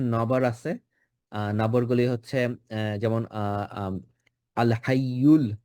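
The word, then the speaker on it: الْحَيُّ: নবরগুলি হচ্ছে যেমন আল হাইয়ুল, আল হাইয়ুল। আহ, এখানে ইয়ার উপর যে দাম্মা আছে, ইউটা যেন আমরা ঠিকভাবে উচ্চারণ করব।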